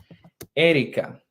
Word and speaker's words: Erika: Erika in Spanish. Let's pronounce it in Spanish. Erika.